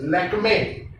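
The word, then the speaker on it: Lakmé: और अगर आप उसका ई का सिंबल देखेंगे तो उसके ऊपर आपको उसको एक बार दिखता है, इसीलिए उसको लैक्मे कहते हैं, लैक्मी नहीं कहते हैं।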